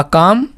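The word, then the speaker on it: calm: अ काम यानी एक शांत। काम का मतलब क्या होता है? काम का मतलब शांत। यहां पर एल आ रहा है लेकिन हम एल को प्रोनाउंस नहीं करते।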